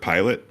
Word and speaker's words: Pilate: I pronounce it Pilate. That's how they pronounce it in Catholic churches.